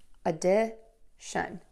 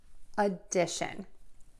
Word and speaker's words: addition: all right so for word number one we have addition and we're going to start that word without short schwa syllable uh make sure it is super short and make sure that you will link it to that second syllable that's going to be stressed the stressed syllable is louder longer and higher in pitch addition addition next we have subtraction